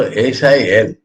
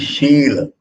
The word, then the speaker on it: Shil: In Bengali, sha pronounce same. So they write S for all. And in English, for Raswa and Dirgha, there is no special thing. So S-I-L, people may read Sil. It is Shil.